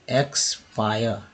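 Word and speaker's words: expire: फिर देखिए एक्सपायर, आई का उच्चारण देखिए यहाँ पर जो है आई के रूप में, आ के रूप में हुआ है, तो ये देखिए आई के रूप में, आ के रूप में आ है, एक्सपायर, है ना, एक्सपायर।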